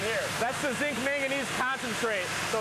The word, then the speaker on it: manganese: then here's your zinc manganese not magnesium I'm saying it wrong right yeah it's a manganese manganes right totally different from magnesium zinc manganese concentrate and